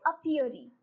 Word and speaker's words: apiary: और जो group of hives है जिनकी वो देखभाल करते हैं ह्यूमन बीइंग, उसको हम बोलते हैं अपियरी. Okay. It is pronounced as अपियरी.